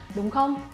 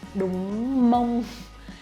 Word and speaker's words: đúng không: But for spoken Vietnamese, we will not pronounce too clearly like đúng không. But usually we say like đúng không, đúng không, đúng mông. It's like đúng mông, đúng không, đúng không, đúng không. I'm pronouncing it like this.